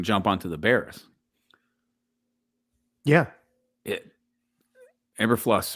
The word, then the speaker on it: Eberflus: Eberflus, right? Is that how we pronounce it? Yeah, Eberflus. Matt Eberflus.